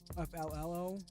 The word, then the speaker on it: FLLO: FLLO. FLLO. 1 L is silent.